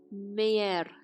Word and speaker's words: meğer: We said you spell the yumuşak as Y when you have it between 2 vowels. This one becomes eğer. Eğer. Meğer. We have 2 vowels, we spell it as Y.